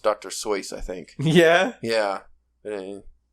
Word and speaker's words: Seuss: Seuss, I think. Yeah? Yeah. It's Dr. Seuss as we know him, but I'm pretty sure he pronounced it Seuss, as in like noise almost, or soy sauce.